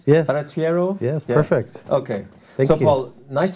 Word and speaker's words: Barattiero: sir often talk with Paul Verity arrow didn't spell it right yeah Verity arrow yes perfect okay well nice to meet you